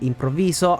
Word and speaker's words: improvviso: to play Comedia improviso now these words Comedia and improviso are pronounced correctly that's how you say them in Italian the problem is that